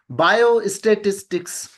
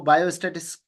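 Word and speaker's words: biostatistics: बायो स्टेटिस्टिक्स, तो काफी लोग इसको बायोस्टैटिक्स कहते हैं, तो बायो स्टेटिस्टिक्स जो इसका प्रोनाउंसिएशन है।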